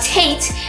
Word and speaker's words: Tet: today you learn how tate rhymes with light and how its numerical